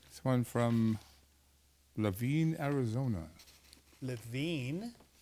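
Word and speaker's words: LaVeen: one from LaVine Arizona LaVine look at that LaVine and it's spelled phonetically yes that's from somebody named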